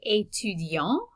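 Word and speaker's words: étudiant: i can say etudian notice that the t is silent at the end and we have a nasal vowel at the end of that word but if i'm describing myself as female then i'm going to say just so i'm going to add an e to the end and i'm going to pronounce that t so it's really just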